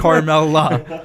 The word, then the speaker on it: Carmella: Yeah, and it's Carmella. Carmella. What are you, from Boston? New York? Let me tell Hey, you about Carmella, you want a pizza?